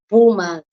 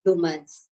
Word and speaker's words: boomers: It's boomers. It's boomers. But I usually say bloomers, right?